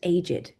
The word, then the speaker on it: aged: older he's aged but then when we're talking about he is very aged uh I mean old as an adjective we're going to pronounce it aged so for example when